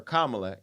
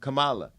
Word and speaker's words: Kamala: out of her name instead of calling her Kamala you're calling her what is she calling her Kamala Kamala so you're refusing to acknowledge how she's told